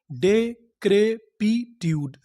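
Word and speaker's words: decrepitude: English का एक rule होता है, अगर आपको किसी भी मीनिंग के आखिरी में ई लिखा मिले तो हम लोग ई का उच्चारण नहीं करते, हम लोग ई से पहले तक का उच्चारण करते हैं।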